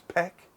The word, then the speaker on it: Paik: but he but if if I was back home the p is pronounced as a b b yeah right yeah